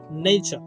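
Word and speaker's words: nature: ঠিক একইভাবে আমরা যেটাকে নেচার বলি, শব্দটা নেচার না নেইচার নেইচার নেইচার।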